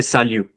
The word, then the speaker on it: salut: You can also say salut. Okay, salut. Salut Pavan. Salut Vyom. Please isko salut mat bolna ya salute mat bolna. Aap, like you're not giving a salute to anyone. It's salut. Okay?